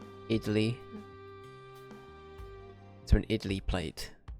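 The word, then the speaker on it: idli: holes uh sure okay I looked up how it's pronounced it's idy like that idly to an idly plate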